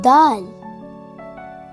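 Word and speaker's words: دال: Hi, my name is Daal. Daal. Daal. It sounds like the English word the.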